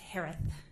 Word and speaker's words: Herath: name s-a-n-d-e-r-s-o-n last name is pronounced like Harris with a lisp it's herath h-e-r-a-t-h hi Shay hello